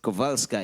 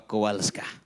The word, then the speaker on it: Kowalska: si sa fustina kovalska it's kovalska in the polish pronunciation pero kowalska in english pagkabasa faustino lord i